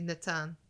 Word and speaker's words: Natan: Well, they don't say Nathan in the audiobook. They say Natan. Nathan. I mean, it's Thank spelled you, like- Amber. I Yeah. like this. It's spelled like Because Nathan. So, yeah, I mean, Nathan. I like that more than Nathan. Nathan. Nathan. Mm-hmm. I've known a lot of Nathans. I've never known a Natan.